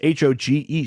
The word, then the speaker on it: Hogue: 301 Hogue Street. That's Hoge Street in Whitehorse, Yukon, Y1A1V8.